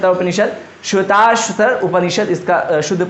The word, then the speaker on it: श्वेताश्वतर: आगे बढ़ें, देखो यही है श्वेता उपनिषद, श्वेताश्वतर उपनिषद, इसका शुद्ध प्रोनाउंसिएशन होता है।